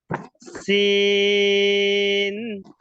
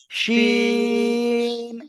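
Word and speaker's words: ش: সিন। শিন, শাসা শি- শব্দ হবে উচ্চারণ, শিন।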